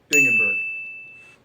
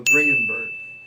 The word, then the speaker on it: Dringenberg: Anyways, when she was first created, she was created by Neil Gaiman and Mike Dingenberg. Actually, no, Dringenberg. That's how you pronounce his name.